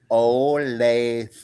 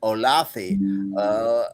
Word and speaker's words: Olathe: And the guy mispronounced Olathe throughout. And I would have to go, come on now, Olathe. And he would go, Olathi, Othello.